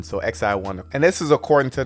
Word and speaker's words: XiOne: i o n and tend to be pronounced more like the acronym so the x the letter i and the number one so x i one and this is according